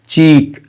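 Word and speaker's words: cheek: मिसाल के तौर पे एक लफ्ज़ है चीक, स्पेलिंग है CHEE, तो डबल ई है यहाँ पर,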